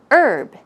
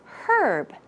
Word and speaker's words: herb: you RB herb but especially in British English yes they do include the H sound so you will hear